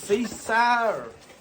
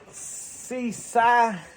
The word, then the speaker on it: Seesii: I think you pronounce this Seesii. So what this is, it's Seesii.